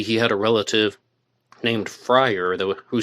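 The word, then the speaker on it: Fryrear: had a relative named Frier who spelled the name F R Y R E A R but pronounced it Frier.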